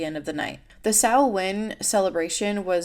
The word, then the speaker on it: Samhain: Samhain, and I've also seen this pronounced as Samhain, so I might use it interchangeably in this video, so if I change the pronunciation, that's why.